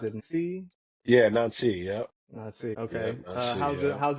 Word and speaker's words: Nancy: Is it uh how do you pronounce it? Ni. Yeah, Nancy.